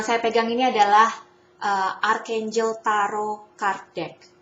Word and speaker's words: tarot: Yang saya pegang ini adalah Archangel Tarot Card Deck. Jadi tarot itu pronunciation yang benar adalah T-nya tidak dibaca ya, tarot.